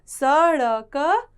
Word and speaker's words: सड़क: बीच में आया है इसका उच्चारण है ड सड़ क सड़क कभी भी ड से